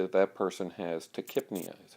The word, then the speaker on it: tachypnea: A person who has then rapid breathing, tachypnea, we would say that that person has tachypnea, is how that's pronounced.